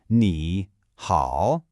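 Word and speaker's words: 你好: Both characters have what's called a third tone, which is kind of like a little dip, right? Your voice goes down, and then it comes right back up.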